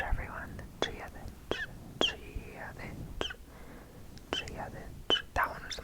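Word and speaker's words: Dia dhuit: Like it's T-I-A space T-H-U-I-T, but it's Giavich.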